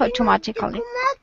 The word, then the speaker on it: automatically: Very often with these adverbs with C-A-L-L-Y, usually we drop the syllable like this, automatically. We don't say cully. It's a drop syllable.